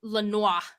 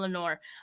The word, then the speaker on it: Lenoir: after the draft, and I pronounced it Lenoir. His last name Lenoir. I was like, it's French. Right? So after that, I was corrected, and I've never said his name wrong since.